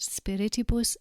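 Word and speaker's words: spirituum: spir spirus spiritus spirius you'll note that spirius has four syllables and this second syllable needs to be emphasized spirius vocabulary now and you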